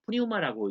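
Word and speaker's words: πνεῦμα: 그래서 저는 그냥 그 영이라고 번역을 하고 그렇지 않으면 그냥 푸니우마라고 읽으면 좋습니다.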